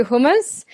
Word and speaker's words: hummus: this actor where's the hummus coming from right now that was just a line that the the the Brits say hummus and the Americans say hummus so it was in